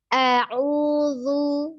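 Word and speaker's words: أعوذ: atas, kemudian baru arahkan bibir itu ke depan ya, mengucapkan harokat dhammah. Dhammahnya. Jadi lu. Nah, jadi jangan langsung bersamaan dengan lu, begitu ujung lidahnya tidak sempat keluar. Nah, maka itulah yang menjadi rancu pengucapan huruf zal pada saat dhammah agak sedikit sulit. Gitu ya. Intinya ya. Nah seperti itu kuncinya ya, mungkin agak dikasih tahu trik-triknya sedikit ya cara pengucapannya. Jadi a'udzu, nah gitu. A'udzu. Nah, kemudian untuk huruf ain juga dikuncinya ya.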